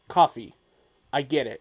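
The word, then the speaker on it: Coffey: said someone's name wrong not john carvin but coffee i get it it's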